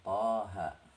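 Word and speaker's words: طه: ayat-ayat, min, dari surat Thaha ya, Thaha. Kemudian Thaha ini bacanya sama-sama seperti alif lam mim ya, dibaca sesuai dengan namanya. Ini huruf Tha dan huruf Ha, min suratil Thaha.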